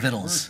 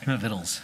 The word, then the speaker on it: victuals: I love that word, I mean, victuals, I mean, it's just, Victuals, it's a great Vittles. word. Yeah, How's this? Vittles. yeah, Is it's a that great pronounced word.